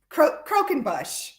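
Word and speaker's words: croquembouche: like that's crazy is that really how it's pronounced Carol okay you get the prize I I did not know okay cro croen Bush cro croen Bush we're gonna have to use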